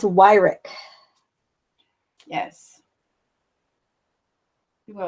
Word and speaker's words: Weirich: It's Weirich. Yes. People are like, how do you spell that?